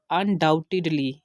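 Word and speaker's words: undoubtedly: टी आ गया, तो यहाँ पर भी हमने इसको साइलेंट करना है, बी को साइलेंट करना है।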